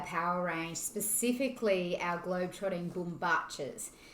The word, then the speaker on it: bombachas: range specifically our globetrotting boom batches that's how you pronounce it it's an argentinian word i fell in love